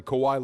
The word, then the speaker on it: Kawhi: so so now saying a guy's name correctly Kawhi Leonard is disrespecting him you the whole name